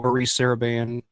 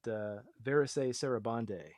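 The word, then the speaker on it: Varèse Sarabande: I've always wanted one of the original Maurice Saraband releases. Which is that? I'm curious. Is that how you pronounce it, or is it Verise Sarabande?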